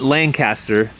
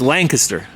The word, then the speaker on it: Lancaster: Mazy did you know we've been saying it wrong the whole time what it's not Lancaster it's Lancaster I know can you